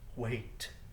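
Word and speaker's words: Hwæt: word of beowulf is wait we don't pronounce the h it would sound like weight weight sheamus heaney translates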